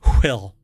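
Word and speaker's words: WHILL: with this but anyway it's wh i l l so it's you have to pronounce it will based in California in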